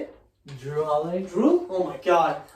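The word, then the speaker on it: Jrue: He has Jeru, how you say it? Drew Holiday.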